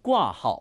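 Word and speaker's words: 挂号: 꾸아하오. 자, 여러분 HSK 성우는 절대로 또박또박 우리가 발음하는 것처럼 또박또박 들려주지 않아요. 꾸아하오 이렇게 들려주지 않고요. 조금만 더 입을 벌려서 크게 발음해 볼게요. 꾸아하오.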